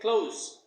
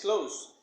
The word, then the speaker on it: close: word is this one how would you say you'd say close it's okay to say this close but once again the mistake is made when this word is used as an adjective now close is a